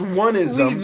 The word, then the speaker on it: onism: uh where I know we laugh about onism a lot we do it's actually pronounced oneism no one on this